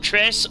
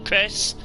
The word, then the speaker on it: Chrace: um i don't know how much pronounces it trace or chris go for it um i heard tim call it chris uh we'll go with chris to join skinks fitness